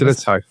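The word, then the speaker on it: Sillitoe: Um I think it was Allan, is it Silito? Is that how you say it? Silito. Silito.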